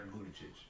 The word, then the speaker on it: Buttigieg: You're gonna lose with Pete Buttigieg. Yeah, you said it right. Buttigieg. Yeah, that's not gonna get. Sounds like booty chitch.